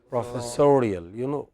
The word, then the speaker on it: professorial: Look at the next word. What is it? Professor. But the next? Professorial. It changes stress.